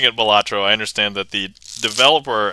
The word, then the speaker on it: Balatro: I guess Balatro is one, Balatro is another one, and then Balatro. And I'm settling on Balatro mostly because I think if you were to take it from the Latin root, that's how it would be pronounced.